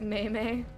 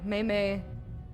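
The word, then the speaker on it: 妹妹: that was right here you used to pronounce it maymay I never did because of Firefly Meimei is little sister in Chinese alright so we're gonna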